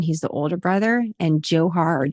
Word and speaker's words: Dzhokhar: tamerlan is one he's the older brother and dzhokhar jaw har different pronunciations for the younger brother but tamerlan is